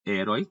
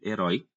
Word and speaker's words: herói: Temos a palavra herói, não é herói, então vai ser um oxítona, é herói.